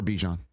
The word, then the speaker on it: Bijan: I prefer Bijan, if that's okay. Yeah. And Colgate is pronounced just Colgate, right?